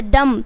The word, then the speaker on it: dumb: बट ये क्या है, बॉम्ब, क्योंकि बी जो है एम के बाद आया बी वो साइलेंट होगा, तो बॉम्ब। उसी तरीके से DUMB, तो डम, क्या हो जाएगा, डम।